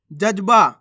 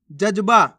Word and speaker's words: जज्बा: पढ़ेंगे मस्त मस्त नहीं मस्त जजबा कैसे पढ़ेंगे जज्बा जजबा नहीं जजबा कच्चा कैसे पढ़ेंगे कच्चा कचा